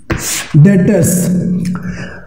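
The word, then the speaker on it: debtors: मैं शुरुआत जो कर रहा हूं डेटर्स। अब डेटर्स की जैसे बात करते हैं, बी साइलेंट है, डेटर।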